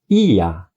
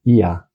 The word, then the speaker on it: Yah: Não é g o é, mas é ia ia aleluia. E assim nos nomes os profetas tem também a previação do nome é sempre Iá.